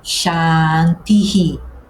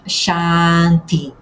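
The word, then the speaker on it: शान्तिः: É por isso que a palavra fica shantii. Não, não é apenas chanti.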